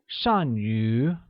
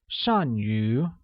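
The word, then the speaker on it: 善于: like nu li great good at translates as shanyu which uses a falling tone on a and a mid rising tone on you making it shanyu next we learn how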